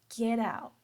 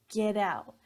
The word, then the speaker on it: get out: So it's get out, get out. So that get, that T in get is stopped. We don't pronounce that.